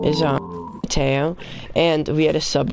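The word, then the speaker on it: Matteo: and then he goes, Matu. It's spelled M-A-T-T-E-O. No, my name's Mateo.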